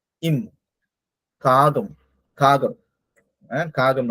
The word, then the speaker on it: காகம்: காகம் நம்ம உச்சரிக்கும் பொழுது அந்த கம்னு வரணும், காகம்.